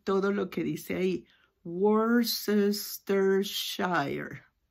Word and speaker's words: Worcestershire: Worcestershire. Porque así sería la pronunciación de acuerdo al inglés americano. Pero esta es una palabra que viene directa del inglés británico.